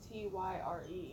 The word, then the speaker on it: Tyre: It's not Tyler, it's Tyre.